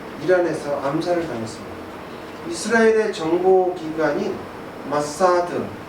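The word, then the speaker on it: מוסד: 이스라엘의 정보기관인 마사드, 발음은 이제 우리는 모사드 이렇게 얘기하는데, 이 아주 비밀 경찰이죠.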